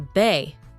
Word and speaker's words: በ: Consider the letter be, for example, which is pronounced as in the English words bed and Belgium.